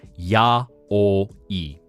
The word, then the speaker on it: yaoi: So you can actually break it down, ya, o, i. So as you said, yaoi.